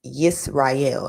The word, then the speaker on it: Yisrael: And what we know as Hebrew, Israel is Yisrael, and a lot of people do pronounce it like that, but Yisrael with a Y, Yisra-E-L, like in God, I think it means.